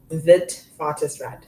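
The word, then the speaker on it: Witwatersrand: Vitart rand. So the spelling is actually wheat waters rand but because it's Africans it's vitis rand.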